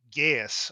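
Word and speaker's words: geis: I mean, of all the powers in this book, is the Gaius or Geesh. I forget how the proper I think pronunciation, but Geesh is technically um, correct, but yeah, it's been.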